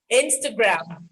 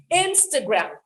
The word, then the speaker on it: Instagram: there is a nasal there is a nasal after the letter i so the nasal has to come out instagram instagram some people some people would say instagram they will articulate the a that comes after the t but this is a